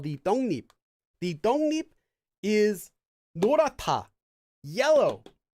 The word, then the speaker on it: 떡잎: This one is pronounced 떡 잎 if you read it one at a time, but due to sound change rules, it becomes 떡잎.